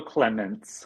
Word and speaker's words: Clements: uh is it clemont I don't want to say your last name incorrectly Clemens Clemens um yes I have French people in the family so that's my pronunciation no worries is